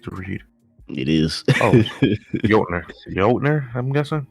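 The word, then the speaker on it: Jötnar: Oh, Jotner, I'm guessing. Jotner? Let's go with that. I trust your I trust your lingo. I know the J is silent. So it's like yo.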